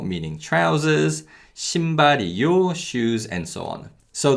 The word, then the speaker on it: 신발이요: 신발이요, 신발이요. So as you can hear, yo is pronounced closer to the sound of 여 than actually yo.